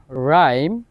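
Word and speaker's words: rhyme: এরপর আরেকটা যে রুলস আর এর পর যদি এইচ থাকে ওই ক্ষেত্রে এইচ এর উচ্চারণ হয় না আর এর উচ্চারণ হয় যেমন এটার উদাহরণ হচ্ছে রাইম রাইনো রম্বিক আর এর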